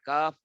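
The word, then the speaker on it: ك: কফ মোটা করবেন, একটু আগে শিখাই দিছি মোটা কিভাবে হয়, যে জিহ্বার গোড়া উপরে উঠলে মোটা হয়ে যায়, আর জিহ্বার গোড়া উপরে না উঠলে পাতলা হয়, কাফ পাতলা হবে।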